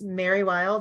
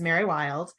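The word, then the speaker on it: Mari Lwyd: love have you seen I think it's Mary wild is how you say it it's the it's the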